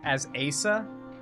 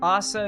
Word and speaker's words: Asa: Now, the pronunciation of Assa as AS Asa is kind of insane. Okay, now I'm pretty certain assa is pronounced assa because I don't think there are hard a syllables in Japanese names. So assa is definitely pronounced assa.